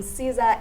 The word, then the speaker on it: Ciza: Ciza is the son of the one half of Mafikizolo Clan. Yeah, that's how it's pronounced.